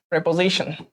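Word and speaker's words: preposition: অনুসর্গ, অনুসর্গটাকে আমি বলবো যে তোমরা এভাবে মনে রাখো প্রিপোজিশন হিসেবে, প্রিপোজিশন, প্রেপোজিশন, ওকে, এই প্রেপোজিশন হিসেবে মনে রাখো, প্রেপোজিশন হবে উচ্চারণটা।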